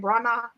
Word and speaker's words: Branagh: Because now Kenneth Branagh, how do you pronounce his last name? Branagh.